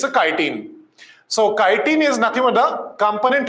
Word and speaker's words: chitin: Kitine or some pronounce it as a chitine but don't pronounce it's a chitine it's a kitine. So kitine is nothing but the component of what fungal cell wall fungal cellular cell wall.